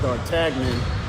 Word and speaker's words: d'Artagnan: only three musketeers with important musketeer which is pronounced d'Artagnan did you have to give me men dart